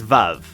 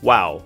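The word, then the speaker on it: וָו: Next is vav or wow. But because we're sticking with the sphartic pronunciation, we're going to call it vav and pronounce it as such.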